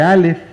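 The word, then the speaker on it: אָלֶף: la palabra mil es la palabra elef elef se escribe igualito que alef sin embargo lo único que cambia es la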